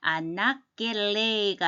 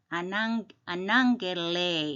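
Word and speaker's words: ἀναγγελεῖ: 감마가 두 개 올 때 아낙겔레이가 아니고 아낭겔레이 이래야지 발음이 편하죠. 아낭겔레이.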